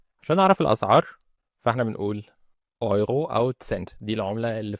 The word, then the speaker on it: Euro: عشان نعرف الاسعار فاحنا بنقول ايرو او سنت دي العملة اللي في الاتحاد الاوروبي معروفة. الاي لو بعدها يو او اي بعدها او بالالماني بنطق ايرو.